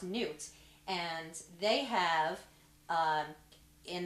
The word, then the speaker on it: Nut: of the god newt n-u-t it's like nut but it's pronounced newt and they have um